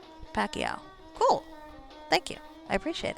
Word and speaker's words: Pacquiao: Paso or Pacquiao Pacquiao okay I see I see yeah that makes more sense the Que in there Pacquiao cool thank you I